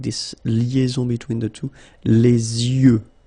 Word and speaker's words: les yeux: Les yeux. Okay, final X not pronounced.